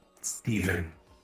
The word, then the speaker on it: Stephen: Steven. Steven. With a P. Where's the P go? Stephen. Oh. Steven. That Steven. I thought it was like spelled like Steve and then N at the end.